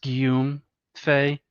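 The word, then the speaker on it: Guillaume Faye: side note, I believe the archaeofuturist guy's name is pronounced Guillaume Fay. It's French.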